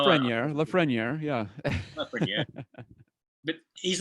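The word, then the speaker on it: Lafrenière: a player like uh la franiere so what's that uh 62 and a half percent chance that la ferniere well and i i i'm i'm pronouncing his name incorrectly aren't i matt you're close enough close enough yeah you know la freniere yeah yeah but he's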